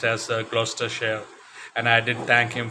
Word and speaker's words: Gloucestershire: He did mention all that, but first he did tell me that it is pronounced as Gloucestershire, and I did thank him for that as well.